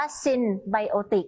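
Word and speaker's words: synbiotic: แล้ว ก็ พิมพ์ ซินไบโอติก S y n b i o t i c e อ่าน ว่า ซินไบโอติก นะ คะ เพราะ ฉะนั้น นะ คะ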